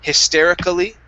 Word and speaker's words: hysterically: and how we say i personally i've never heard anybody say hysterically okay and so this one i would probably write down as one where we do we do not pronounce that a okay okay and and